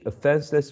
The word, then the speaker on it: offenseless: How many syllables and which one is the most prominent syllable in the word offenseless? There are 3. Okay. Okay, there are 3. And which one is the most prominent one? The second one?